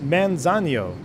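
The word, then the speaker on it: Manzanillo: right back at you it's pronounced it's pronounced manzanio uh is used as uh mi amigo Manzano Manzano all right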